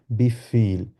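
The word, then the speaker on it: Wie viel: জিজ্ঞেস কিভাবে জিজ্ঞেস করব বি ফিল এটা হচ্ছে যেহেতু ডব্লিউ আছে ডব্লিউ কে ভে এর মত আর ভে কে আমরা আও এর মত উচ্চারণ করি ওই জন্য বলবো হচ্ছে কি বি ফিল হাউ মাচ আচ্ছা এবার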